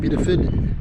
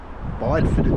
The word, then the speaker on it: Bideford: So that's Bideford there. Bideford it's spelled, but only Bideford.